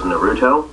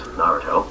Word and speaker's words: Naruto: noo which was to refer to as Naruto which I've learned is wrong it's Naruto this very important stuff